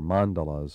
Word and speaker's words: mandala: What about dream mandalas or mandalas, or how did you say it last time? Well, supposedly the Sanskrit pronunciation is mandala, but most people in America say mandala or Okay, what is that variations thing?